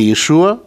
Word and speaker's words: Иешу: Так или иначе, не знаю, но, по крайней мере, в еврейской традиции, в раввинистической, произносят не Иешуа, а Иешу.